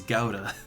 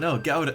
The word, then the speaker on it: Gouda: Look, that's the German way to pronounce it, is Gouda. It pronounces like it looks. It's not clam chowder. But no, Gouda. Like, look, that's how it, you know, you pronounce it how it looks.